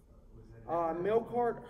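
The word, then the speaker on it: Melqart: Did you say Malachar, like towards Melkart? Melkart, it's spelled M-E-L-Q-A-R-T. Oh. So it's like Melkart, and then it's described Melkart Hercules.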